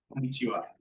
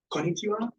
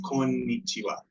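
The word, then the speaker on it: こんにちは: It would just be incorrect to have one N, because here is and here is ni. There are two distinct N's, even if they do run together. So you wouldn't say like konnichiwa or like konnichiwa. It's konnichiwa. There's like you hit an N and then you hit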